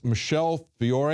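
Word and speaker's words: Michelle Fiore: is being put forward by State Rep there Michelle Fior is that how you pronounce her name yes that's right okay uh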